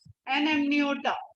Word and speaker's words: amniota: ठीक है बच्चा, ए को प्रोनाउंस करके देखो कैसे करो, करो तो जरा, करो इसको प्रोनाउंस. डिफरेंस समझ में आ रहा है इसमें और इसमें? क्या बोल रहे हो? इसलिए यहाँ पे क्या है, एन साइलेंट नहीं है, एन एमनियोटा. तो डिफरेंस ध्यान रखना.